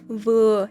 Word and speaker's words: vừa: Trái dừa thì đồng âm với từ vừa trong tiếng Việt giọng miền Nam. Vì ở miền Nam có một số trường hợp tụi mình phát âm chữ vờ như là chữ giờ vậy.